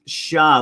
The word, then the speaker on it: Shah: I love how Shah says it's pronounced Shah like sha-na-na.